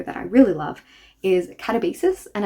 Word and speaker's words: Katabasis: But going on to a writer that I really love is Katabasis, and I'm going to pronounce this way because I looked it up. RF Quan said this was originally how she pronounced it.